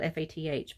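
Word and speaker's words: Fath: jacques fat french spelled f-a-t-h but the pronunciation came in as fat put the little pearls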